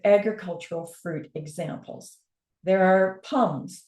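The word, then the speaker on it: pome: fruit examples there are Pals pronounced like the French word for apple the fruit with cores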